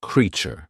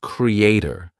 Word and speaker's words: creature: a t r e many of you use the word but the pronunciation is creat do you get it not Creator suppose we say C re e a t e same great then te create creation there we are saying a but for creature we are not saying Creator don't go by spellings